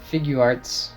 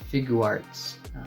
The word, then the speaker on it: Figuarts: the way from Japan this is the sh figurearts janger Fett action figure this one was released